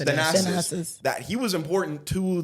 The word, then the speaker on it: Thanasis: Thanasis. Thanasis.